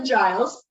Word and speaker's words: Giles: my name is Giles we discuss that a little bit and pronounced like The Librarian from Buffy and I am a